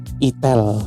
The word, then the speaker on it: itel: Itel atau Etel. Enggak usah sok-sokan e apa geli bacanya biar enggak salah ucap karena tulisannya gitu. Jadi bacanya enggak usah enggak usah saru-saru, enggak usah malu-malu, sebut aja namanya. Itel. Nah, gitu. Karena bahasa Indonesia ya. I T E L. Itel. Itel. Itel. Enggak apa-apa itel ya.